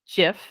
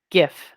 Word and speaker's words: GIF: so this one here i pronounce this gif and the kids tell me this is gif and i'm pretty sure i'm right and they're wrong but that will be